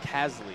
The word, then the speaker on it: Casely: Fun fact, actually, about Scott Casely, his last name, which I didn't know until 2-3 days ago, is pronounced Casley.